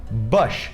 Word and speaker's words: Bush: o ex-presidente dos Estados Unidos, que é o Bush.